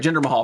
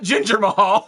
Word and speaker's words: Jinder Mahal: That's right, Jinder Mahal. Thank you. That's not how it's spelled. Not Ginger Mahal.